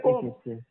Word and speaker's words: comb: Yeah, this is a comb. And because the proper pronunciation is combing. Comb. The B is silent.